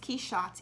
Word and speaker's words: Quichotte: Quichotte in English, spelled as it is pronounced, K-E-Y-S-H-O-T, comes from the narcotic